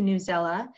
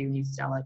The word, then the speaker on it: Newsela: I'm going to move on to Newsela, or News ELA. I've heard it pronounced both ways, so I'm not actually sure which way is correct.